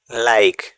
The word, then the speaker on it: like: LIKE লাইক মানে পছন্দ বা মতো। এখানেও ওয়ার্ডের শেষে ই লেটারটি সাইলেন্ট থাকবে। এখানে এই লেটারটা দেওয়া হয়েছে আয়ের উচ্চারণ আই আনার জন্য। ই না থাকলে লিক হয়ে যেত।